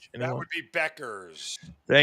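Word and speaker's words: Bueckers: That would be Beckers. Thank you, Zeno. Thank you, Zeno. Mark, do we need to go over pronunciation before the show for one of the biggest stars in the WNBA?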